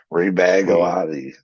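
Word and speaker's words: Rebagliati: Rebagalati.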